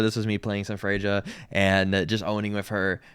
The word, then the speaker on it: Freja: This was me playing some Fraia and just owning with her, right? I think that's how you say her name. Frea. I thought it was Freya at first, but it's not.